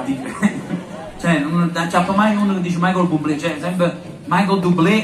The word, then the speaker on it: Michael Bublé: tutti quanti voi sapevate perfettamente che si dice Michael Bublé c'ho la pronuncia proprio sa però così per sicurezza Al